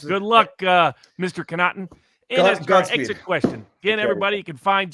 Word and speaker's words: Connaughton: let me see it george connaughton pronounced cannot phonetically thank you in saint augustine